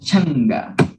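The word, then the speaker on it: chanka: esquí son tipo changa se escribe chanca pero éste pronuncia changa y si mi chi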